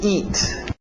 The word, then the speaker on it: eat: To eat. To eat, aquele T bem nítida. Eat, para no T, eat. Isso, EA, som de I, to eat.